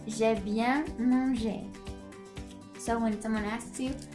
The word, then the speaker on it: j'ai bien mangé: And the way you pronounce that is j'ai bien mangé.